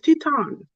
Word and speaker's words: Teton: Everybody's like Titan is gonna be the lowest person, which he's not, and I'm saying. But then I realized his name is not Titan. It's Teton.